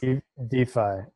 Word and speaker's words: DeFi: DeFi. Yeah. DeFi. It's a shortening of decentralized finance, and it has the added benefit of sounding like DeFi. Defiance, DeFi. It's very, I love it.